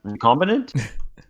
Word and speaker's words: recombinant: recombinant Combinant? or CanSino? It's like recombine ant, except there's no E.